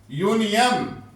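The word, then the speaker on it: union: है वोवेल से शुरू हो रहा है ना यूनियन लेकिन हमने आवाज को देखना है यूनियन ये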